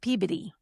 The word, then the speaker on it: Peabody: It's pronounced peabity.